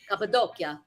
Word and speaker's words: Cappadocia: Now, this is something that's amazing to me is the Cappadocia.